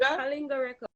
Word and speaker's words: Kalinga: Kalinga Records, yes.